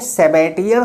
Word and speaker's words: Sabatier: को क्या बोलते हैं, तो इसको बोलते हैं सेबेटियर सेंडरेंस रिएक्शन। क्या बोलते हैं, सेबेटियर सेंडरेंस रिएक्शन।